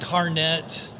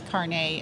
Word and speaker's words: carnet: so it's not pronounced Carnet like a lot of people think no no not like a hairnet No it's it's it's caret it's car it's a